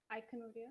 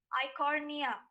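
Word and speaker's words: Eichhornia: as the water hyacinth iconoria i'm sorry the right pronunciation would be i cornea i cornea the right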